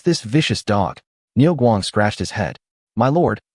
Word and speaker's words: Niu Guang: My lord, his name is Ny Guang, the Guang in Guang Mong, meaning dialects are not conducive to communication.